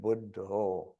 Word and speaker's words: Buddha: of the Buddha, and when they pronounce it, it's with an O at the end, Buddha.